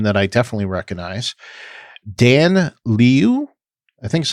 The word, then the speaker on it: Liu: So directed by a name that I definitely recognize, Dan Liu, I think is how you say it, or Liu. It's Liu.